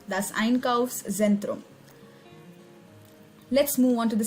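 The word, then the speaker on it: Einkaufszentrum: is called the iron curves scent room thus einkows centrum so try to break the word whenever you see a new word and listen to the pronunciation very carefully thus einkaufs zentrum that's iron curves xentrum let's move on to the second page of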